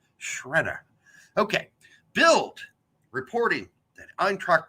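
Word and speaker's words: Sciaretta: that Tom bogert posted Tom celic Boger Brian Shredder yes that is how you pronounce his name that's how he told us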